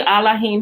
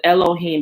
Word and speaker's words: Elohim: is with you and when you see allahim here it's the appropriate pronunciation of elohim because there was no e in um in the hebrew language right it's aids right